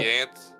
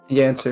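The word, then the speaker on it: Yanscer: You say Y-A-N... Yance? Yancer. Okay, Y-A-N-S-C-E-R. In case you want to... did say Yancer. Okay then, Yancer.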